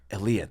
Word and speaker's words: Elia: Elia.